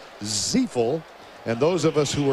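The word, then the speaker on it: Ziifle: It's spelled Z-I-I-F-L-E, pronounced Ziefel.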